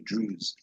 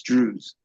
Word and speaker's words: Druze: Now, also for the mention to the audience, Drews is spelled D R U Z E. Drews. It may sound Jewish, but it's Drews.